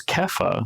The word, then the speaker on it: Kepha: Good old Simon, son of Jonah, famously known as Peter today, or Rocky, I think, is a perfectly reasonable alternative, because Kepha, the name that Jesus actually gave him, and